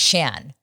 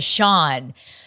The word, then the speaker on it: Shan: His name is pronounced Shan.